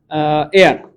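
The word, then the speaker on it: heir: এবং এ দিয়ে এটা তো আমরা লিখে দিলাম আগে এয়ার, এইচ ই এ আর, এটার উচ্চারণ কিন্তু কি হবে ভাইয়া, এয়ার।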